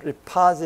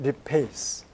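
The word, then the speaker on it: lipase: 이게 영어로는 우리가 리파제 이렇게 다 붙이고 배웠는데 원래 영어 그 발음으로는 페이스라 그러더라고요. 아밀레이스, 락테이스, 그다음 리페이스.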